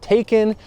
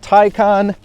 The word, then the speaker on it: Taycan: tycon 4s and yes even though it kind of looks like it should be pronounced taken it's tycon that's the way porsche